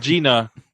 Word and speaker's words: Gina: Spelled Gina, pronounced Gina.